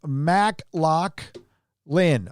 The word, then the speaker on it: McLaughlin: of The Avengers uh pronounced Mack lock Lynn okay Oliver McLaughlin I I